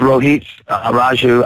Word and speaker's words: Rohit Raju: let you right now give us the proper pronunciation it is s Rho Heat Raju I think I'm starting